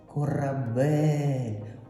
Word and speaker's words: корабель: Ми ставимо наголос корабель.